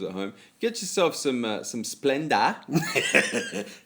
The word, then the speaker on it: Splenda: Get yourself some Splenda. It's not Big J, Splendor. as Big J pronounces it, and put that on your baked potato.